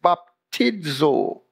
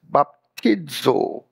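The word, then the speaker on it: βαπτίζω: Greek word translated baptized in Galatians 3:27 is baptizo that's how it's pronounced baptizo which pictures the placing of a thing into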